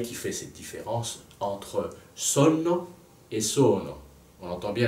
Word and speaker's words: sonno: Dans la prononciation, quand on chante, on doit dire sonno. Là, j'exagère évidemment, les deux N sont très importants.